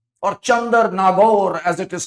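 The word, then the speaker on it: Chandernagore: In 1675, French had established Chandranagar, or Chandar-Nagore as it is correctly pronounced.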